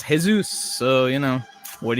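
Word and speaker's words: Jesús: you know but but it's unfortunately your name's it's pronounced hey Zeus so you know what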